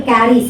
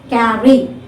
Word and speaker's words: carry: Okay, now see for example, carry, C-A-R-R-Y. Where is the stress? On the first syllable. Carry, carry, 2 words. Okay, carry, so first syllable is stressed.